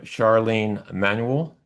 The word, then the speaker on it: Charlene Manuel: Our second speaker is Reverend Charlene Manuel. Did I pronounce that correctly? That's fine.